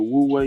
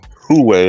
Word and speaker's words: Huawei: go into it what what the woo way is Huawei or who way however you want to pronounce this h-u-a-w-e-i they have gone you